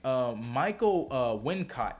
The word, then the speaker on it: Michael Wincott: Michael Wincott.